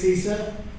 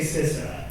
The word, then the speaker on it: CISA: I guess my official title is Cybersecurity State Coordinator for CISA. I talked to a few people this morning. I used to say it's CISA.